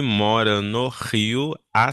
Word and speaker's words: Rio: Então, sempre que a gente tem uma letra R, ao começo de palavras, a gente pronuncia mais como um ra, né? Então é o rio e rut.